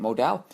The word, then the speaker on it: modal: Finally learned how to say it. Modell, a fabric that's twice as soft as cotton.